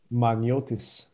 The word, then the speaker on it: Maniotis: i'm not familiar with could you give us your last names for them magniotis you don't need to